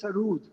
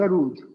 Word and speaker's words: sarod: Sarod is a Persian word, and the actual pronunciation is Sarud with double O. Oh, I see. Sarud.